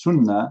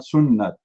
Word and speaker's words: Sunnah: pronounce it Sunnah and because this is the correct way to pronounce it it is Sunnah not sunnat it is the correct